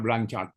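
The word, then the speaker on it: Blanchard: Ujungnya yang satu lagi penulis yang kedua adalah blanchart. Dibacanya blanchart B L A B L A N CH H A R D.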